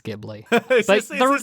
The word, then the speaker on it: Ghibli: Like I said, most people have a favorite Ghibli movie. Although some people will pronounce it Ghibli as well, which is fine.